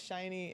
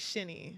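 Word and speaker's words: SHINee: I'm known as the Shiny person. People text me about the Shiny members now." Shiny. How do you spell that? Sh I N um Ee. So it looks like Shinny. Okay. But shiny. Yeah.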